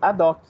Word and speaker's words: ad hoc: Pronuncia-se ad hoc, tá? Você ignora o H. Não fica um H, um O aspirado. É ad hoc mesmo.